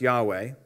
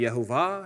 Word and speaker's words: Yahweh: just review that first of all yhwh is pronounced yahweh that's the name of god hello that's a